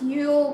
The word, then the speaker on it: Yule: Is pronounced Yule, like Y-O-O-L, and then the themes says rebirth, quiet introspection, new year, hope, setting intentions, and celebration of light.